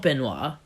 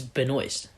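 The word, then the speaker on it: Benoist: was up in one it's not Benoit it's been waste I thought it was been while so nice yeah but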